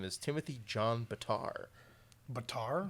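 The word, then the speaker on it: Betar: name is Timothy John Batar Batar Batar b-e-t-a-r or beater probably better oh that's spelled but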